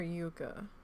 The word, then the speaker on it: Yucca: right a soap tree Yucca Yucca or Yuka I guess it depends on where you live how you're gonna pronounce that son of a all